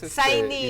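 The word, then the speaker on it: Sinéad: No, es Sainid. irlandesa, ¿verdad? Sainid, ¿no? Bueno, Sí. donde se pronuncia Sí, Sinead.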